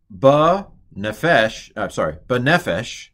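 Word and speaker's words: בנפש: Ana Yahweh, Alna, No vada, benefesh, Segelitz, they accent the second to last syllable.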